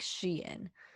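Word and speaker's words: Shein: anyway then we have sheen shine i think it's sheen i tried to pronounce like i was looking up how to pronounce it and it was like she in oh i thought it was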